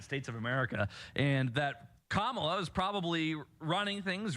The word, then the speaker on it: Kamala: the hate campaign against kamla Harris has begun you will notice they purposefully pronounce her name wrong they say Camala they do it all